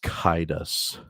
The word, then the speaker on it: Caedus: It's pronounced Kaidas. Kaidas, gotcha.